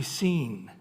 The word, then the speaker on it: Sin: And then if you say, how do you pronounce Sin? It's actually Sin is the way they pronounce it.